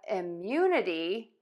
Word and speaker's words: immunity: Last, when we have immunity, the stress stays the same.